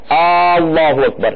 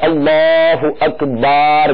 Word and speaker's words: اللہ اکبر: طرف نشاندہی کی گئی، اللہ اکبر یا اللہ اکبار کر کے، تو یہ ایسی غلطیاں